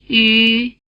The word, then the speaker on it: ü: It has roughly the tongue position of the vowel sound E, and roughly the lip position of the vowel sound U. If you pronounce a steady E sound, and then round your lips into an U position without moving your tongue, you'll get the U sound.